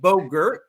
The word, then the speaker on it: Bogert: My name is Bogert. Rhymes with yogurt.